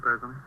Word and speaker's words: Parazoni: Is that how you pronounce it, Parazoni? Pleased to meet you. Yes, that's right.